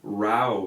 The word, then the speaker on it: row: like him rah rah we spell ro w but when you say you have a fight you say wow wow so ro WC -